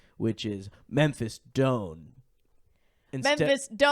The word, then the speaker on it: Doan: about my actor's access is that is actually when I use my stage name, which is Memphis Doan. Memphis, like D-O-M-E or D-O-N-E, but pronounced different than done.